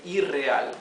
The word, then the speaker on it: irreal: is real and again just to keep the same pronunciation of the r we add one more R here right and we say iral if we did not